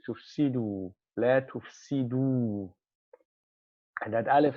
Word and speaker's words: تفسدوا: That alif is not pronounced. We will pronounce the waw. We would say tufsidu, la tufsidu.